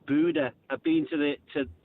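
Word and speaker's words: Bodø: following a team, but you keep going saying bona. It actually pronounced Buddha.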